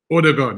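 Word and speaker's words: Ødegaard: Hopefully we'll get to see, how do you guys pronounce it? You know me, I'm not good with names. Is it Odegaard? Odegaard, yeah.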